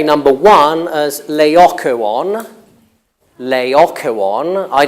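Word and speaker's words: Laocoön: how to pronounce that but standard British English would have lay Akko on mmm Majorca one lay aqua on laocoon I've never heard lei kun and it's not in dictionaries it's not in dictionaries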